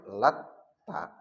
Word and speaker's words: Latta: Lalu yang kedua t-nya pakai tasdid lat ta. Jadi ada lata ada lat ta. Nah, di sini ada dua makna. Kalau bacanya lata ya cuman tidak ada tasdidnya lata langsung itu ya nama suatu nama.